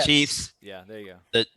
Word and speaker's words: Chiefs: we got two uh chef fans is that how you say it is it chefs yes no it's your choice yeah chiefs yeah there you go